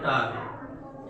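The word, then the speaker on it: talk: और बात करने का अगर प्रयोग है तो टाक, एल साइलेंट है, टाक यानी बात करना।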